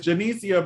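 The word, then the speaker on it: Janicza: jen nick jennica bravo i know that z is pronounced somewhere jen genesia there it is janicia bravo oh she was so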